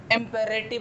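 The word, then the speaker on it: imperative: तो मैं एक चीज़ बता दूं, अगर आर के पहले और बाद दोनों वाउल्स आते हैं तो इस आर की प्रोनाउंसिएशन होती है, और यही कारण है कि हमने यहाँ पे इम्पेरेटिव कहा।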